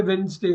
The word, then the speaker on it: Wednesday: You should say Wednesday. Okay, D is silent. D is silent on Wednesday.